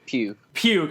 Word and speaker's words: Pugh: off we have Tristan is it pug or pube I want to make sure I pronounce it correctly pew-pew okay so Tristan Pugh who just